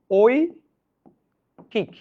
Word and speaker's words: ঐকিক: আপনি দেখেন আমি এখানে কি লিখেছি? ঐকিক। এবার আপনারা এটা উচ্চারণ করেন তো ওই কিক ঐ কিক আচ্ছা কোথায় হসন্ত দিচ্ছে